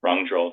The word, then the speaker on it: Rangdröl: there you run a um you run the wrong draw Foundation hope I'm pronouncing my correctly wrong drill Foundation right okay good yeah pretty good oh